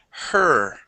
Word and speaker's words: her: How about the word her? with her, Good. Now, the H in her is much quieter.